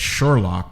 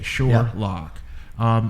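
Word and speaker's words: Surelock: That's Sherlock, but it's spelled S-U-R-E lock. L-O-C-K. L-O-C-K. Sherlock.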